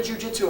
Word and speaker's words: jiu-jitsu: The word, a good way to remember jiu-jitsu and a good concept that we have is jiu-jitsu is 3 syllables.